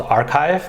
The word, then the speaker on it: arXiv: The most common preprint server is called Archive. That's spelled ARXIV, and that's over 30